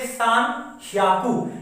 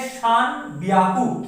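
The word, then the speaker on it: 三百: वो क्या है, देखिए एक्सेप्शंस इन प्रोनाउंसिएशन, जैसे कि 300, तो वैसे 300 का जो प्रोनाउंसिएशन है वो होना चाहिए शान श्याकू, लेकिन यहाँ पे थोड़ा सा अलग है, यहाँ पे है शान ब्याकू।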